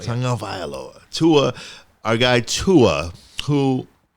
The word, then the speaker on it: Tagovailoa: How do you pronounce his last name? Tagovailoa. Tagovailoa. Tagovailoa.